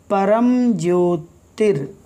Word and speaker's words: परम ज्योतिर: परमेष्ठी, परमेष्ठी, परम ज्योतिर, यहाँ पर रा है, परम ज्योतिर, ठीक है।